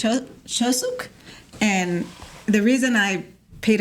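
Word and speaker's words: Chuseok: It's Chosuk.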